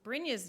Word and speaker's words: Brynja: And that explains Brynja's name with J-A sounding like yeah.